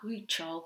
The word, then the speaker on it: Huichol: So here we've got a man, a huichol, I think it's pronounced, man, wearing his white clothes with a counted embroidery stitch on.